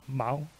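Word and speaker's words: 毛: I'll just say the first character is pronounced Mao.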